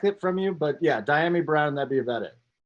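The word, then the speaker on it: Dyami: Yeah, it's Diami Brown.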